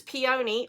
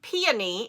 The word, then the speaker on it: peony: And I'm pairing that with the Hol Garn in the colors peony or peony if you're from the North or Midwest. Pion is definitely a southern pronunciation.